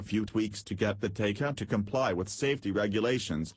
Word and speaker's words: Taycan: Pronounced Taycan, the name roughly translates to lively young horse in a Eurasian dialect.